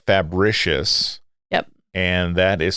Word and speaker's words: Fabricius: beyond ancient civilizations there's so again it's called fabricious yep and that is spelled f-h just as it sounds r-i-c-i-u-s yes